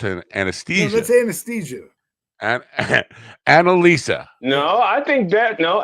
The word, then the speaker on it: Analisa: you guys know what Analisa is not an not not anal e no Analisa a n a l i let me let me spell it for you a n a l i s a like Analisa uh Anala I don't